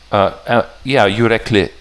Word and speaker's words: Yürekli: There was a snake egg Patreon pack, yes, but Yürekli. Yeah, the I is short. That's right. Thank you. Yeah, Yürekli, but not an accent on the kli.